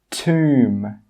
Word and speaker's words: tomb: The first rule is that if a B comes after an M at the end of a word, it's normally not pronounced. Some common examples are climb, crumb, tomb, bomb, comb. You can see here that in all of these words, we do not pronounce that final B sound.